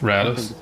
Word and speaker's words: Rados: We should probably ask his pronunciation as well, shouldn't we? It's Rados. Rados.